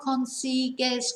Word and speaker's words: consigues: So that means we get left with consigo, C-O-N-S-I-G-O, then consigues, where there is a U in it, but we don't pronounce the U. So consigo, consigues, consigue.